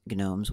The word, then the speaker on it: gnomes: all warning up front I do pronounce gnomes with a hard G there are reasons I'm going to try to pronounce it with a silent G but fair warning I